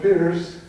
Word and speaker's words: Peirce: As Charles Sanders Peirce said, and I call it Pierce in my recordings because Peirce was the pronunciation when he was in England. And I've always called it Pierce even when I ran into the correct from the British point of view.